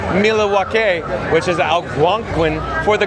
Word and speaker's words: Milwaukee: Alice Cooper yes Pete it is actually it's pronounced Milawake which is alangquin for the good land.